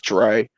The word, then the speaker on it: Dre: How do you say this gentleman's name? So I can't quite see it, but it's Dre. I normally just know him as Dre. Dre. Okay. Yeah, Dre. That'll do.